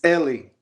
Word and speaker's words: Eli: name it's crazy so Ellie is how you say it right Ellie Ellie everyone does